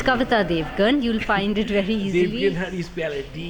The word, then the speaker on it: Devgan: It's Kavita Devgan. You'll find it very easily. Devgan, how do you spell it? D-E-V. Kavita Yes. Devgan. So it's not GUN. Yeah. It's GAN.